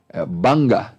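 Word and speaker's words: Bangor: Saint Andrews Derby istanblia Bolton Bolton's repeated actually Banger is spelled Bongo but it's pronounced Banger yeah and then Q School Q universities now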